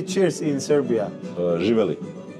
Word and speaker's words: Živjeli: and cheers how you say cheers in Serbia Juel Juel was good pronounce not do nu Är frukosten